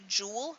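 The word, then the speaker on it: joule: Newton meter is a jewel and that's pronounced just like the gemstone a jewel it just spell is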